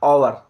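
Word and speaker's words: hour: ये देखो साथियों। दिखने में एच है लेकिन पढ़ेंगे क्या? ओवर। तो ओ आ गया वर्ड। इस कारण क्या है? एन का प्रयोग किया गया है।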